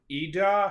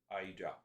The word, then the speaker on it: Ida: i will have you heard of eda hurricane kate thank you for correcting my pronunciation ida it spells the same